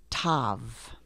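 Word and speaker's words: תו: to the last letter which is Tav now Tav has the T sound which is exactly the same sound as the Tet you see the T up above the same sound two different letters repeat the last letter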